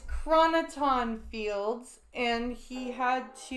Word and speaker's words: chroniton: of them saying the question you might be pronouncing say the damn question again how was Data clearing the US USS Enterprise of chronotron fields chroniton it's chroniton fields and he had to [ __